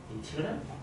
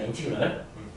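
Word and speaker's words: integral: 그리고 읽는 건 이렇게 합니다. 인티그럴이라고 하는데 인티그럴? i가 이겠지? 인티그럴. 라고 읽습니다. 인티그럴.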